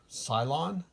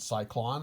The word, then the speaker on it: Cylon: These are the round Cylon. I'm pretty sure I'm pronouncing that right now. I think I pronounced it Cyclone at some point.